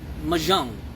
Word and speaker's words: mahjong: It's pronounced mahjong.